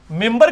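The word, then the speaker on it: منبر: ممبر کے سپیلنگ کیا ہے؟ من بر، لیکن پڑھا کیا جاتا ہے؟ کیوں؟ کیونکہ نون کے بعد، نون ساکن کے بعد بار ہے.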